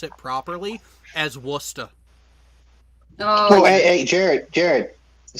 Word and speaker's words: Worcester: ] spell the name of it when i pronounce it properly as worcester oh hey jared jared the same words forgotten